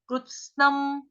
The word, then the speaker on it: कृत्स्नम्: आधा ग, भूतग्राममिमं, मिमं कृत्स्नम्, कृत्स्नम, कृत्स्नम को कैसे बोलेंगे, क आधा, क के पैर में क्या है, रू, आधा क, नीचे रू, क्रू, क्रू, उसके साथ ही क्या है,